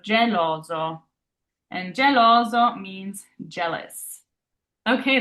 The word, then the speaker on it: geloso: And then we have our singular S here sandwiched by two O's, which are vowels. So it's that Z sound, that zipper sound in English. So zo. So geloso.